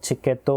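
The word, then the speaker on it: チケット: நமக்கு தெரியும் த வரிசையில வந்து டி அப்படின்ற உச்சரிப்பு வந்து கிடையாது. நமக்கு வந்து சி அப்படின்றதுதான் இருக்கு. சோ இந்த இடத்துல டி அப்படின்றது இல்லாததுனால டைரக்டா சி அப்படின்றதையும் வந்து உபயோகப்படுத்தி இருக்காங்க. டிக்கெட் அப்படின்றது இங்க சிக்கத்தோ அப்படின்னு வந்து உச்சரிக்கப்படுது.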